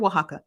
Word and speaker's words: Oaxaca: fantastic okay but yeah make your way to Oaxaca okay and that's how you pronounce it said um the t-e-p-jf determined that